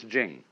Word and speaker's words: Ching: after the CH so if there were it would be pronounced Ching but it's Jing like a j and so Jing in